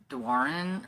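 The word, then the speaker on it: Doiron: Now I've learned that it's not Dorian, it's Dwarin or something like that.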